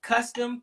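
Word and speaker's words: Kustom: This is Custom, K-U. It's like spelled like custom with a K, K-U-S-T-O-M.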